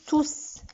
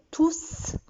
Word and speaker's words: tous: Mais quand il est pronom, ça se prononce tous. Ils sont tous partis.